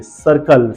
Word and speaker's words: circle: Second spelling check कीजिए, सर्कल, CIRCLE। First वाले सी को हम स पढ़ रहे हैं, सेकंड वाले सी को हम क पढ़ रहे हैं।